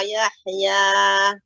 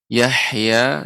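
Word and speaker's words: يَحْيَى: Dan juga Yahya ya, tidak Yahya. Yah lebih lembut lagi pengucapannya. Yahya ya seperti itu.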